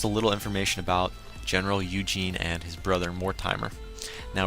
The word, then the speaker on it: Eugene: i was reading so it's going to be pronounced eugene regardless e-u-g-e-n-e eugene and again um general